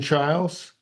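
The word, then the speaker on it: Chiles: her name is Jordan Charles if that name is familiar it's because it rhymes with her teammate Simone biles she's a gymnast a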